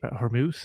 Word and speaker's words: Hormuz: What's going on with the wanted to ask you about the Strait of how do you Hormuz? Is that how you pronounce it?